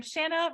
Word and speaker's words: Shanna: go first I am Shanna rhymes with banana are you she her